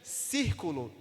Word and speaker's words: círculo: como círculo didático exército percebe que círculo tem quantos quantas sílabas circulo três três sílabas a força tonicidade a